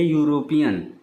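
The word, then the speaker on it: European: यानी स्वर है लेकिन इसका उच्चारण किससे हो रहा है यू से हो रहा है यानी य से हो रहा है तो इसलिए यूरोपियन के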